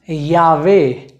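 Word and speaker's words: llave: अगला नियम ये कहता है कि अगर दो एले साथ में हैं तो हम वहां पर एले नहीं बोलेंगे, वहां पर हम य का उच्चारण करेंगे, जो कि बहुत मिलता जुलता है अंग्रेजी के वाई अक्षर से।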